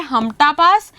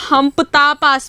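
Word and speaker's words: Hamta Pass: Then आपका आता है हमटा पास, इसको हमपता पास भी बोलते हैं। ठीक है, दोनों प्रोनाउंसिएशंस हैं इसकी, लोकल वर्जन्स और वो।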